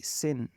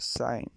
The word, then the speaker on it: sign: all this would be sin however the g lightens and elongates the vowel sound to repronounce the sign this is true for